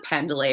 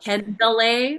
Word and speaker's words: Pendlay: You call Oh, it pendlay or pendlay? I say Pendlay, like just kind of based on Okay, how it's spelled.